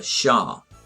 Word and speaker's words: Xia: founded china's first dynasty the shah that's how you pronounce xia sha around 2000 bc however there